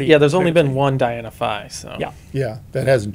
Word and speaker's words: Diana Phi: and there's a dynaphi this one will say dienophi and the phi is spelled out so for the most part yeah there's only been one diana phi so yeah yeah that